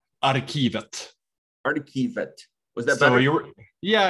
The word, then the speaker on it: Arkivet: What's the right pronunciation? Arkivet.